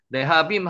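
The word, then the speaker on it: להבים: 세 번째가 르하빔입니다. 르하빔. 레하빔이라고 했습니다. 네. 나오는 거 아시죠? 레하빔 한번 해 보세요.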